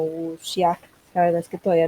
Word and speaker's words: wuxia: una película de wuxia, se copia así, pero en mandarín creo que se pronuncia como wuxia.